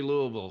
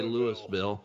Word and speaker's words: Louisville: Say Louisville. She doesn't say Lewisville. She didn't say Louisville. Lewisville is outside of Dallas Fort Worth, Texas. So anyway, uh Louisville, Kentucky is how you say it.